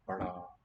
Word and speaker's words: बड़ा: Bada gets a little dot below it. More of an R than a D. Bada.